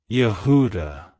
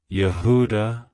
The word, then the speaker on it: Yehuda: praised it's pronounced as yahuda Yehuda Yehuda to pronounce it correctly emphasize the first syllable ya and the second syllable who with a slight emphasis on the last syllable da like hello Yehuda goodbye